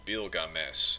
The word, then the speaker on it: Bilgames: gilgamesh in general so in the sumerian texts instead of starting with a g the name starts with a b so it's called bilgames and it you know there's uh probably there is a sound at the end but it ends with just a plain letter s so the first one